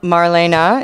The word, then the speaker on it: Marlene: tell us about it i am marlene or marlena well marlena is how you am okay marlena dietrich is uh how you pronounce her name that show was called